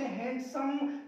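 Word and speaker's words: handsome: यहाँ हम लोग पढ़ते हैंडसम, नहीं होता हैंडसम, शुद्ध होता है हैंडसम, शुद्ध क्या होता है, हैंडसम। आज के बाद आप लोग इसको हैंडसम नहीं बोलोगे, हैंडसम, यहां से डी साइलेंट हो जाएगा, इसको पढ़ेंगे हैंडसम।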